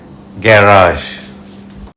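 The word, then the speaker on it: garage: এর নিচে বিন্দু দিয়েছি শব্দে দুটো সিলেবেল আছে ব্রিটিশরা প্রথম সিলেবলে জোর বেশি দিয়ে থাকে গ্যারাজ ব্রিটিশ প্রোনাউন্সিয়েশন আমেরিকান উচ্চারণে দ্বিতীয় সিলেবেলে জোর পড়ে প্রথম সিলেবলে গ্যা এমন ভাবে বলা হয় যে গা মনে হয় গাজিক ওয়ার্ড গাজ দিস ওয়ার্ড ইজ লিটিল গাজ second syllable stress syllable is long and first syllable is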